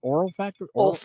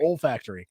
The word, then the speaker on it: olfactory: Oral factory? olfactory. Olfactory.